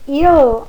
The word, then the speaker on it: il: Esse il, o L vai lá no céu da boca, tá? Então, nós temos aí um exemplo que eu sempre uso, né?